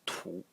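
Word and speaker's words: 土: And the semantic element in it is this element over here, which is pronounced tu, and it is earth, soil.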